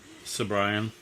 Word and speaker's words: Cibrian: All right, so number 2 on my list is Eddie Cibrian. How do you say that? You look at Cibrian? Cibrian? Sobrian.